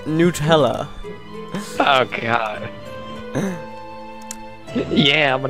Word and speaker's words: Nutella: is happening and apparently there are some Americans who pronounce Nutella they pronounce it Nella as if it were made from Hazel noes um that's how I've always heard it pronounced as Nutella oh God yeah I'm